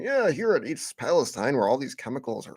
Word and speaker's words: Palestine: It's Palestine, not Palestine.